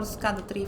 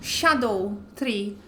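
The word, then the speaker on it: Scadutree: I discovered that that's not how you pronounce that word. It's supposed to be archaic English or old English, and it's supposed to be shadow tree, just with a very, very weird way of writing and reading it.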